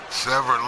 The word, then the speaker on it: Severn: He is the National Wrestling Alliance World's Heavyweight Champion, Dan the Beast Severn. Oh, wow. They actually do. I think that's the right pronunciation of his last name, Dan Severn.